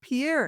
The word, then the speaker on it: Pierre: And um, the answer was Pierre. And I said, "That's correct, but you pronounce it Pier." And the machine said, "No, it's Pierre."